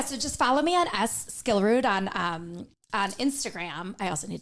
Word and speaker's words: Skillrud: S and then Skillrud is SKILLRUD. You got it, girl. Followed her for a very long time. Not. How many hosts mispronounce that damn name?